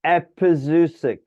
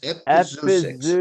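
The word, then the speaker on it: epizeuxis: it over here, that the deck told us, Ephesus, if I hope I'm saying it right. Okay. What is it, deck? Ephesus? Epizeusics. Yes, Epizeusics. All right, so I can't pronounce it, but you did it well, Victoria.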